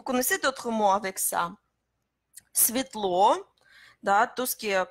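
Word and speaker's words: светло: Svetlo, да, tout ce qui est comme Svetlo, c'est clair. Svetlo, Svet, hein, Svet, lumière. Hein? N'oubliez pas que c'est S, jamais Z.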